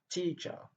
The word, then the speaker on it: teacher: Teacher. Teacher, deux syllabes. Et la première syllabe est accentuée. Et la deuxième syllabe qui porte le son choix n'est pas accentuée. Teacher, avec le son R à la fin.